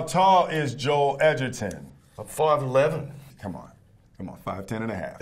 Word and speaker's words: Edgerton: How tall is Joel Edgerton?